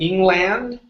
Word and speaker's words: England: that n okay so instead of saying England okay it's England England try that England there you go good